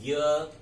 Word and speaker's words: ज्ञ: अब इसका उच्चारण हम करते हैं ज्ञ। जबकि ज और य का योग हुआ है, तो क्या होना चाहिए?